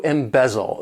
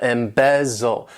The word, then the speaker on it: embezzle: Embezzle, to embezzle. This verb has 3 syllables and the stress is on that second syllable, embezzle, embezzle.